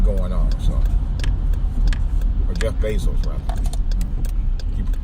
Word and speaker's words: Bezos: But Jeff Bezos also runs the Washington Post, so he really got it going on. So, or Jeff Bezos, rather.